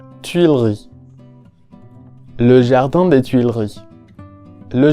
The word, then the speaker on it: Tuileries: Tuileries.